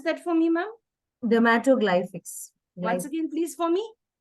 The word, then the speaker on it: dermatoglyphics: a certified dermato dermato ma'am can you just pronounce that for me ma'am dermatoglyphics once again please for me dermatoglyphics yes I'd like to learn about it it's